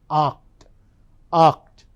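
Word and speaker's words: acht: So number eight is pronounced as oct.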